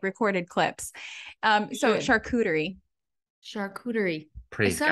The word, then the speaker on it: charcuterie: The amount of variations I've heard, you know, of the pronunciation. Oh my gosh, I should take like recorded clips. Charcuterie. Charcuterie.